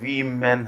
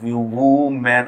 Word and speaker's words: women: illogical at birthday here we men here the plural Buddha 2uv men hoga not of numu man I don't know what it's like wrong pronunciation but the correct one is we men we men's college your